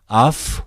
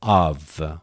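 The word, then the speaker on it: αυ: Then you may expect RE, but actually they are dealt as a diphthong. Then you have to pronounce either af or av.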